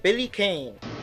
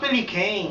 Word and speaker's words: Billy Kane: No, it's pronounced Billy Kane. Billy Khan. No, the way it's spelled, it's Billy Kane. No, it's Billy Khan. Look, there's nothing anywhere that says it's pronounced Billy Khan, okay? Oh, excuse me? Bogard versus Billy Khan. Okay, fine, so it's Billy Khan, fine.